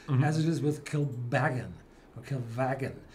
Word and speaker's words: Kilbeggan: So the pronunciation is on the second syllable, mm-hmm. as it is with Kilbeggan.